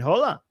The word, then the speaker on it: Hola: Hello and shalom and hola. Hola. Not haha. Hola. Am I pronouncing it right? Hola. The h is silent.